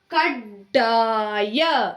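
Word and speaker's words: ಕಡ್ಡಾಯ: So how to read? You have to hardly pronounce kaddaya. Gunitakshara pronunciation. Okay, pronunciation will be like kaddaya.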